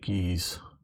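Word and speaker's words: Guise: Like I say, some of these I just like Geese.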